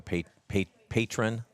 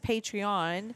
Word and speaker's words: Patreon: know you had me I thought it was Patron and so I was saying Patron you said patreon it must be so then I started saying